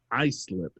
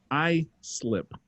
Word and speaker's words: Islip: writes in she's like you were right it's pronounced i slip she was saying that to me oh name